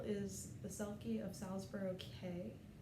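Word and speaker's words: Key: The working title is The Selkie of Salisbury K, spelled K-E-Y but pronounced K-A-Y.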